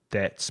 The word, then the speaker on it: debt: need to pay your debts. Be careful of debt because it has a silent B, which you don't pronounce.